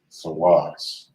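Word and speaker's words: סוס: is force in hebrew which is actually pronounced as sawas all right now we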